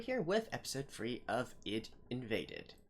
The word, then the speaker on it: ID:Invaded: with episode free of it invaded or Edo invaded for those who prefer to eat Japanese pronunciation but yeah anyways last